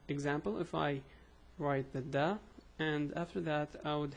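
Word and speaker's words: د: It's a da, it's like a D. So it's a da, do, di, the three pronunciations.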